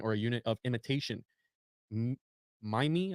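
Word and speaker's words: mimeme: Mime, I think is how you say it, M-I-M-E-M-E, comes from the suitable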